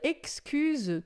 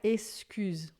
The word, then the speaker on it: excuse: Il excuse tout. Atenção com essa pronúncia do X, porque em francês é sempre som de xi. Il excuse tout. Não é excuse, tá? Il excuse.